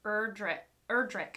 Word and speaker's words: Erdrich: The Sentence by Louise Erdrich, I think. It's the hard C at the end rather than Erdrich.